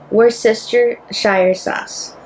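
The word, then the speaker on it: Worcestershire sauce: How do How do we pronounce it, guys? were sister Shire sauce.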